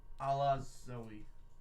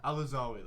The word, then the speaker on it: Alazawi: Alaz Zoe. It's Al-Zawi. Al-Zawi. Alazawi. Al-Zawi. Al-Zawi. There's an A there. Al-Zawi. Alazawi. Alazawi, that's it.